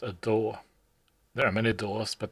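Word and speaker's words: DAW: a digital audio workstation the aw which is pronounced a door there are many doors but the one I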